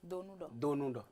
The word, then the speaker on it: Donou: Et puis Monsieur Donou, chargé de communication gestionnaire. Merci beaucoup d'avoir été là. Vraiment merci beaucoup Edwige et vous prononcez bien le nom. Donou.